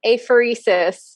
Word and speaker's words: apheresis: So Yvette was so wonderful to talk about the new therapy, which obviously, I practiced pronouncing that word and failed. So Yvette came in and saved me. Therapeutic apheresis.